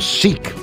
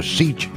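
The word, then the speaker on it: seiche: homes that are normally it's it's called a seek s e i c h e if I'm pronouncing that right reports that a seat is a a standing wave that occurs in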